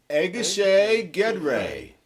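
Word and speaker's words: Egészségedre: would be to your health, In Hungary, it's pronounced as, gentlemen, Egészség Gedre.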